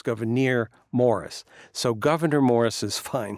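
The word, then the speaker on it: Gouverneur Morris: decided on goir but it is a little tough because it's two accented syllables in a row so it's goir Morris so Governor Morris is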